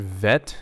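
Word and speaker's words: ב: case, because it's missing, it makes the PH or the F sound. Vet. Okay, so that's how you pronounce this word, vet.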